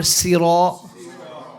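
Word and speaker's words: سَيْرًا: Is it سيرا or سيرا? سيرا. Remember the ra is what? It's مفخم. The alif here is heavy or light? It's heavy. Why is the alif heavy? Because the letter before is heavy.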